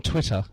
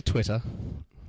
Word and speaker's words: Twitter: that go go to Twitter ah you said it again you actually pronounced the two T's in between that's wonderful Americans are too lazy Twitter Twitter we say Twitter Twi to to be